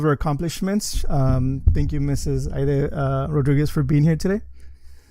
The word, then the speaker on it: Haydee: Well, and people call me Haydee because the name is actually a French. Haydee is how it's pronounced in French, and that was the original spelling of the name. But no, in Spanish, I'm Haydee.